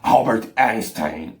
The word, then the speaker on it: Albert Einstein: eu pesquisei esses dias como se pronunciavam o nome albert einstein e ele se pronuncia assim albert einstein albert einstein olha que legal de um alemão agora ele ele já